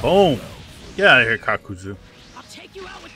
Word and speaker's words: Kakuzu: Immortal member of the Aki known as kakuzu kakuzu okay I mispronounced it when I was doing it earlier